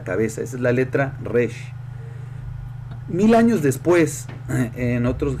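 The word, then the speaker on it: ריש: que res pues obviamente al decir res el la pronunciación de la letra es pues como la letra r para nosotros en nuestro idioma y efectivamente la r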